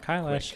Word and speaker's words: Kailash: Um We did we you you and Jacob were like a TikTok like a like a really Mount Kailash hit rhymes with eyelash.